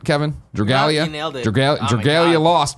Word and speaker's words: Dragalia: Dragalia?